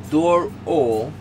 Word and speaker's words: Dorohedoro: Let me say correctly, because I know a few people have been saying I've been saying it wrong, and you know, it's Dorohedoro.